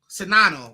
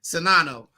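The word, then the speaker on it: Czinano: In Monica Sinano, I think is how you say it. Sinano.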